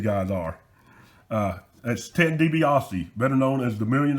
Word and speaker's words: DiBiase: he was referring to him as uh ted debase and i'm thinking somebody needs to tell this guy it's pronounced dibiase not tobias didn't really get to uh to talk to